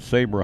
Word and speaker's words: Sabra: The Sabra, am I saying it right? Sabra hummus. Correct.